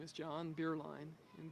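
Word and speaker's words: Bierlein: My name is John Beerline and Beerline is spelled B I E R L E I N and my title is curator of education.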